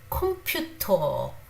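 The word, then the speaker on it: 컴퓨터: So we say computer, but in Korean pronunciation it is computer, computer, computer.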